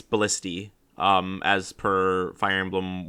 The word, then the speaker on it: Ballista: Lynn is almost killed by a Ballista B ballista yeah I used to think it was pronounced Ballista uh but apparently it's ballisty um as per Fire Emblem Warriors which I'll